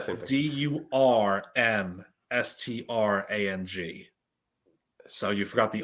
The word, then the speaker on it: Durmstrang: I'm going to say Dumbstrang.